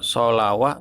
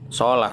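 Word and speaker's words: الصلوة: Solawah wa zakawa gitu, solawah, tapi bacanya bukan solawah ya, solah tetap, cuman alifnya pakai wawu gitu.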